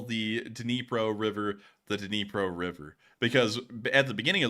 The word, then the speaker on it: Dnipro: beginning of the war, we actually called it the Dnieper River, and then people said that was the Russian pronunciation, so we moved it on into the Dnipro River.